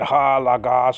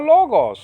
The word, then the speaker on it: Logos: not really i mean that's not how you really pronounce it ha lagas and all that stuff it's really all logos it's like that okay so i'll appease